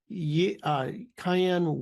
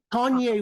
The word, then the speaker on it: Kanye: Now, even this morning, I've never worked with him, but if anybody's listening knows him, Cayenne West. Did I pronounce that? Kanye West.